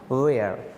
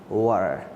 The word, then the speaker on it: were: Subject के बाद was and were, was या were, कुछ लोग उसको where बोल देते हैं। Now you don't have to pronounce where, you have to pronounce were, alright।